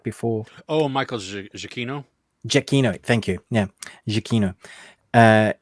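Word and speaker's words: Giacchino: I had it right before Oh Michael jakino jakino thank you yeah jakino uh his son scores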